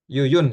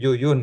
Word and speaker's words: Jujun: Jujun Surya Sumantri ini Yuyun ya sebenarnya Yuyun ini cara bacanya tapi pakai ejaan lama pakai J harusnya Yuyun S Surya Sumantri ya